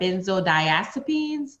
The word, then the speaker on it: benzodiazepines: unpacking benzos and opioids that's right short for benzodiazepines did i say that writer you said it